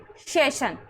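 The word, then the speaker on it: session: Repeat करा रही हूं मैं, एस का उच्चारण दंतव्य तालव्य श होता है। जैसे सेशन, सेशन में हमें हमारे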